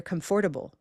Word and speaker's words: comfortable: So, first I use the hand to locate the location of stress, first syllable.